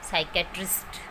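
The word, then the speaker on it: psychiatrist: से शुरू होने वाले वर्ड में पी साइलेंट रहता है। For example psychology, साइकेट्रिस्ट।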